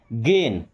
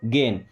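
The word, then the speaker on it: gain: अब ध्यान क्या रखना था कि जहाँ AI आ रहा है उसका उच्चारण एक ही मात्रा, जैसे प्लेन, मेन, गेन।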